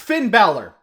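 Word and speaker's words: Finn Bálor: It's pronounced Finn Balor. I mean, I get that you're trying to make fun of him, sure, but... You know, you just sound stupid when your insult is based on the wrong pronunciation of his name.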